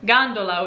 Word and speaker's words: gondola: jelly so gemello now if a g is followed by any other vowel it's a hard g like garlic an example in italian would be gondola which are those famous